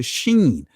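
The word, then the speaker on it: שׁ: In the Israeli language, depending on the mark, if the mark is to the right of the letter, top right of the letter, you pronounce it as the sheen.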